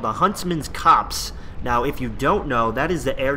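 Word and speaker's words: Copse: head to the huntsman's cops and it is pronounced cops uh I Googled it and Google told me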